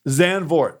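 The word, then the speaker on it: Zandvoort: uh zanford yeah how do you say it zanvort zanvort exactly it's a Beachside circuit uh Max verstappen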